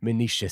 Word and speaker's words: Menoetius: their amaze when great Menoetius' son they saw. I didn't write a uh pronunciation for that, but it's definitely Menoetius. He spelled it in a different way, is why I'm saying that.